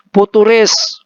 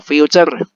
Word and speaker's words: future: Yang kedua ETF futuris, bukan turis ya. Kalau turis itu di Bali, ini ETF futur ya. Futur tambah res, turis, turis juga. ETF future ya, bacanya future.